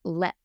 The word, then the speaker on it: Leap: are going to okay it is spelled leap l e a p but it is pronounced LEP l e p LEP castle and forgive